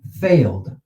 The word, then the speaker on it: failed: How many syllables? One. I hope you said one because the students usually see the ed and they go failed, failed, which in Romance, in languages, Latin languages, it should be two because you have that vowel there.